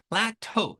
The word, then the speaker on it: plateau: Now, when you reach a plateau, ね、ここのね、発音、この言葉を初めて見るとね、この表現を、この単語をどういうふうにね、発音するのか、ちょっとわかんないですよね。So the way you say this word is plateau.